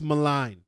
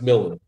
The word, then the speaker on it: Milne: Dax Milne, if that's how you pronounce it, right? Milne. But there's no I before the L.